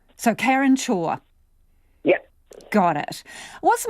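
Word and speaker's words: Chhour: your surname karen uh so it's pronounced chore like do your chores so karen shaw yeah got it what's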